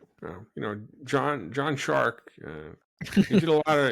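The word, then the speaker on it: Szwarc: to hire a director whose last name rhymes with shark uh I think uh it's a how do you say it's poetic it Rhymes it's like poetry Rhymes you know John John shark he did a lot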